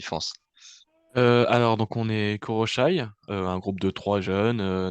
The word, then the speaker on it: Koroshy: en compagnie du groupe Koroshi. Bonjour. Alors bonjour. Ça se prononce Koroshai, si on Ah, chipote un peu. Alors, Koroshai.